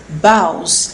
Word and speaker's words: boughs: the last one is boughs the pronunciation is vows about is bronzer in